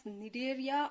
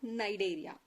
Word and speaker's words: Cnidaria: Here C is silent. You can pronounce it as Cnidaria or Cnidaria.